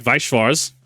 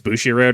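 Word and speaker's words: Bushiroad: right there's things like viars I definitely buter that pronunciation it's Bushi Road right you have things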